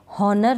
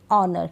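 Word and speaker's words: honour: पढ़ते हैं ऑनेस्ट क्या पढ़ेंगे ऑनेस्ट एच इसमें साइलेंट रहता है जैसे हनर नहीं पढ़ेंगे ऑनर क्या पढ़ेंगे ऑनर इसमें भी हावर नहीं पढ़ेंगे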